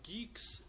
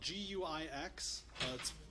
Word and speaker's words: Guix: So GUIX is spelled G-U-I-X. It's a terrible spelling pronunciation pairing. It doesn't make too much sense. It comes from the contraction of Guile and Nix, so they chose to keep neither vowel sound.